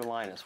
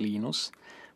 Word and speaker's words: Linus: When I speak Finnish, it's Linus. When I speak English, it's Linus. And I really don't care how people pronounce my name.